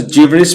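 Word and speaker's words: gibberish: होता है बड़बड़ाहट जिबिस इसको जिबिस प्रोनाउंस करते हैं जिबिस मतलब अस्पष्ट बातें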